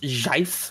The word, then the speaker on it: GIF: Also, Sam, I have a GIF for you real quick. It's important. Give me... Never say GIF in my house ever again. It's pronounced JIF.